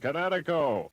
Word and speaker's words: Kinetico: Oh, East Coast, son, little you should have remembered kinetic as in kinetic energy with an O on the end. Kinetico.